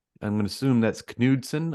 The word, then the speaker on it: Knudsen: Benjamin, I'm going to assume that's Knudsen. I'm assuming he's German, so you would pronounce the K.